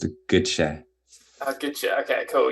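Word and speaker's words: Gøtzsche: me about three times it's it's pronounced a good shay i'll get you okay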